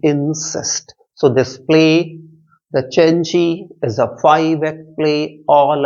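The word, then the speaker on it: Cenci: of Islam then the cheni c e n c i remember the pronunciation of this word is cheni probably a kind of Italian word why because it's all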